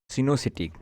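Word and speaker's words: coenocytic: इसके लिए हम लोग एक वर्ड यूज करेंगे, सिनोसिटिक। ठीक है, तो अलग अलग स्टूडेंट्स अलग अलग इसको प्रोनाउंसिएट करते हैं, तो हम लोग इसको सिनोसिटी बोलेंगे, जिसका मतलब होता है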